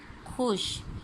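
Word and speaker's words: خوش: Number 6 खुश, खे वाओ शीन, खुश। इसमें वाओ साइलेंट होता है। ठीक है, वाओ लिखा जाता है खुश में लेकिन पढ़ा नहीं जाता, तो आप इसे खे वाओ शीन खुश पढ़ेंगे।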